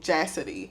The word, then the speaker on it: Jassidy: it and made it Jassidy, like Cassidy, but with the J.